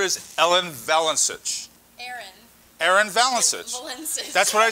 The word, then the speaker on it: Valencich: Valencich. That's what I said. I'll be Ellen too. With the guys, we can't pronounce last names.